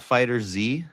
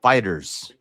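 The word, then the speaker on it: Dragon Ball FighterZ: Z, but when people say Dragon Ball Fighter Z, let's play Fighter Z. They're actually saying it wrong. The game is called Fighters.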